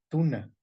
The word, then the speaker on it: tuna: mencionado alguna sesión anterior nótese que es en tuna pero no se dice así en inglés exactamente dice en inglés tuna sí eh entonces también